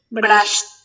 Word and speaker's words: brushed: This a D sounds like T. like T. You say, how do you pronounce brush in the past? How? Pronounce it. Brushed.